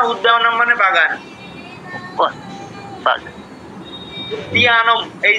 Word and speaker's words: उद्यानम्: উদ্যানম, এই যে জফলার উচ্চারণটা আবার কি করুন, উদ্যানম।